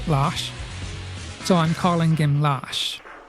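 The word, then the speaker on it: Lars: it's spelled LZ but it's actually a Swedish name pronounced lash so I'm calling him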